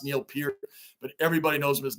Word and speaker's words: Neil Peart: know his name's Neil Pierre I know it's pronounced Neil Pierre but everybody knows him as Neil perk right wrong or indifferent that's what we've called